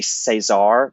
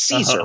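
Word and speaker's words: Cesare: And Adam, I'm going to butcher the name because I want so badly to say Cesar, but it's Caesar, right?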